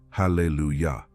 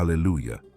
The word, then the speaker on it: Hallelujah: word in Hebrew Hallelujah the correct way to pronounce this word is actually Hallelujah not all Allelujah as it is commonly said in Hebrew the